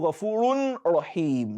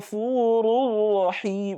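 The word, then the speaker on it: غفور رحيم: So how do you pronounce Wallahu Ghafurur Rahim? You don't say Wallahu Ghafurun Rahim. No, that is idhar. You say Wallahu Ghafurur Rahim, Ghafurur, and don't roll it too much. Don't roll the Ra.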